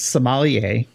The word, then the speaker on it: sommelier: I don't know, but it's sommelier. So that's how you pronounce it.